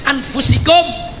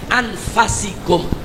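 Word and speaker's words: أنفسكم: Bahkan Allah menyatakan min anfusikum, dari jenis kamu sendiri. Tapi ada qiraah lain Bu yang membacanya min anfasikum.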